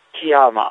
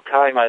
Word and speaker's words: Kiama: A za Wollongong była, proszę Państwa, Kiama, albo Kaima, w zależności jak tutaj wymawiają, a wymawiają różnie.